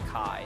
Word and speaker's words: Chi: Or I guess it's pronounced Kai, isn't it?